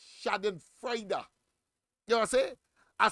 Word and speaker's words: Schadenfreude: It doesn't end, it ends with D, yes, D and an E. But of course, that's how they pronounce it, Schadenfreude.